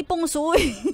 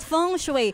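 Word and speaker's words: feng shui: Ah talaga Ha Oo sabi nila yun ang tamang pronunciation AHO H hindi pungsuy ano ano ano ulit pang squam daw yung Pung shu Kaya nga dapat Fong shue Fong shue Oo Fong shue ganon may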